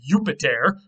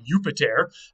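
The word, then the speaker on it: Iuppiter: So they wrote it with an I and they pronounced it like a Y, Jupiter.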